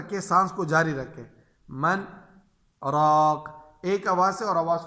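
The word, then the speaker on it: مَنْ رَاقٍ: یہاں پہ ہے من راق، من راق۔ اب اس کی ہم ہجے کریں گے، میم نون زبر من، را الف زبر را، من را، من را، قاف دو زر قن، من راق، وقفا من راق۔ اچھا،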